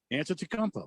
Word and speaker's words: Antetokounmpo: Yeah, Antetokounmpo.